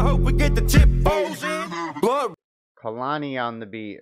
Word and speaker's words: Kalani Ondabeat: we get the tip Kalani on the beat okay so that's how we say that so we can pronounce it correctly smoke so electric gods